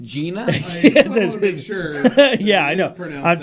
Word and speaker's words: GINA: And the when you'd open a door, it's pronounced Gina.